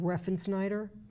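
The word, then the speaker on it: Refsnyder: The kid that they really liked at the end of last year that moved through Trenton and came through the system, Rob Reffensnyder.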